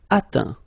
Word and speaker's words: atteint: Atteindre, atteint. Éteindre, éteint. Feindre, feint. Peindre, peint. Teindre, teint. Okay, as usual, final T not pronounced. Atteint, éteint.